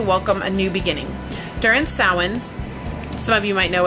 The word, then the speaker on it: Samhain: an opportunity to welcome a new beginning during soin some of you might know it as Samhain but it is pronounced that one the ancient Celtic festival from